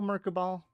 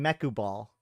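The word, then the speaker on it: Mekubal: week that's true uh how do you spell merab ball m e k u b a there's no R there's no guys guys we have collectively made a mistake I've been informed that this is not just me but spoiler alert there is no R in mechu ball so stop saying it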